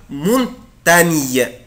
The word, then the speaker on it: montagne: انا ما بنطقوش يا اولاد جن، انا بنطق ني ني ني، يبقى الصوت او الحرفين دول لما يجوا ورا بعض، لا لتر جي الى لتر ان، بنطقهم ني.